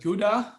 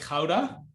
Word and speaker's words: Gouda: next to the arrow there's a place that you probably pronounce that gouda which is the place where they create a lot of cheese i pronounce it like houda that's the dutch pronunciation of it um but it's like